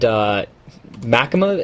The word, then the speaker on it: machinima: Sorry, I was just going to say, somebody told me that it's pronounced machinima, similar to cinema.